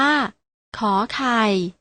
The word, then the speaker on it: ข: ออก เสียง ค ค่ะ พยัญชนะ ตัว แรก ที่ อ่าน ออก เสียง ข อ่าน ว่า ข ไข่ พยัญชนะ ตัว ที่ 2